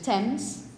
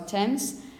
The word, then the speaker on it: Thames: about Tomas or get to by the river tens by the Thames and it's about this plant time which is